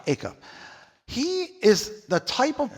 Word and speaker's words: Acuff: Acuff. Acuff.